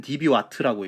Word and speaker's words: dBW: db 와 터라 그러니까 읽을 때는 db 와 트라고 읽으면 됩니다 우선 10db 와트가 됩니다